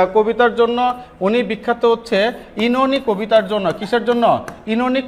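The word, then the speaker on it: Oenone: ঠিক আছে তারপর হচ্ছে ইনোনি উচ্চারণ কি ইনোনি ও উচ্চারণ এখানে হবে না ইন অথবা ইনোনি দুইটা সঠিক উচ্চারণ বাট ও উচ্চারণ দিয়ে ও ইনোনি এরকম হবে না ঠিক আছে ইনোনি হ্যাঁ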